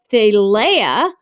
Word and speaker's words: Thalia: It can be spelled Thalia, like I spelled it before, Thalia, or Thalia, like Princess Leia with Leia at the end of it.